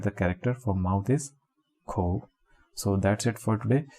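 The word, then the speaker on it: 口: And the pronunciation of this is ko.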